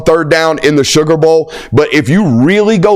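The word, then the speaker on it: Beaux: Bo Collins is my man's name, and it's spelled LSU Bo. I believe that's B-E-A-U-X, hell Bo yeah.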